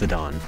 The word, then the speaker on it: Zidane: I think it's pronounced Zidane. Zidane.